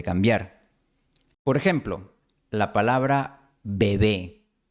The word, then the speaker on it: bebé: Si la pronunciamos de forma aislada, esta palabra empieza con B y tiene una B en medio. Bebé. Pero si está en la frase ese bebé, la palabra bebé ahora empieza con B, porque no sería